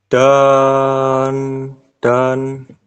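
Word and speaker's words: 단: Kalau di awal itu dibacanya D, Oke. kalau di atau di tengah bacanya T.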